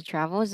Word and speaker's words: travels: nó ha so he travels every two Mon đấy rồi and tiếp travel trav he travel he travels two month Z chứ không phải zy travel travel Z travel hai vần thôi đúng không every every